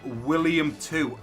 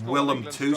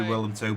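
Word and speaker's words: Willem II: well, I'm so sorry, I think I've been pronouncing this team William 2. I don't know if it's Willem. I don't think it's William. I don't think there's an I in it. So I'm guessing it's pronounced Willem 2. So if I have been pronouncing that wrong, I do apologise, guys. We'll go with Willem 2. I feel like that seems a little bit more legit than William 2.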